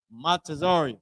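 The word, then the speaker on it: מצרים: Matazarium. That's how you pronounce it.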